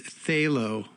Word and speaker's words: Phthalo: And the name of the album is Phthalo, which is spelled T A P H T H A L O. You figure that one out.